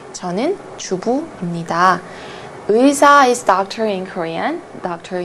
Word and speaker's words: 의사: 의사 is doctor in Korean. Doctor in Korean. 저는 의사입니다. 저는 의사입니다. So this syllable is a little bit difficult to pronounce. 의, 의, 의사.